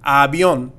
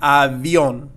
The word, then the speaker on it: avión: And we have the V here, so we're going to make sure that we pronounce this with the B sound, so the B in Spanish and not the B in English. So it's going to be avión, avión, and not avión.